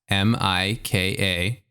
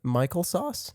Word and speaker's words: Mikasacus: So it's at MIKASACUS on Okay. Twitter, YouTube. Okay. Michael Sauce? No. No, Mikasacus. Okay.